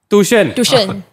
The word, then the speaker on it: tuition: tuition we're talking about tuition tuition pronounced by malaysians as t-o-o-s-h-e-n tushan you go to the